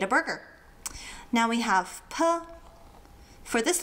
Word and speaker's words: ㄆ: Now, we have P. For this letter, think of a purring cat. Get rid of the ring cat and you have P.